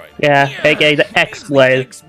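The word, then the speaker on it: χ-blade: aka the Xlade. Xlade. It's just pronounced like keyblade even though it's just one keyblade.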